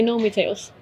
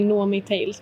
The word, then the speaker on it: Nomi Tales: In English I say Nomi Tales. But in Swedish we say Nomi Tales because in Swedish you pronounce it with an O.